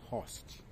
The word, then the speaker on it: horst: of block MERS block mountain are also called host Mountain host is spelled h o r s t block mountains